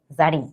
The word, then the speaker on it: Zarin: কাছে, কি লেখা, ZARIN, জারিন, তাই না? কিন্তু এটা হচ্ছে যে আমার উচ্চারণটা কি জারিন, বাংলায় লিখলে ব্যাপারটা হচ্ছে কিছুটা এইরকম। হ্যাঁ, কিন্তু প্রত্যেক ক্লাসে আমি